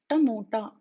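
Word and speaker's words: టమోటా: So while pronouncing these consonants, you need to make sure that you curl the tongue back and touch the tip of the tongue to the roof of the mouth.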